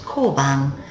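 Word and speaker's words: 交番: Ko plus bang equals koban, and that's a police box.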